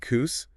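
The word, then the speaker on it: Koos: involves this guy named cous that's pronounced hose with a K okay cous got it he's been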